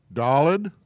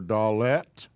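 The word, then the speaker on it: dalet: has an r sound dalid or dallet as you prefer it's a d sound this is a shin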